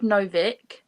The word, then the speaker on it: Novik: book i've always said novick no vic i said novak i've already yeah i've always said novak but it's an i so i don't know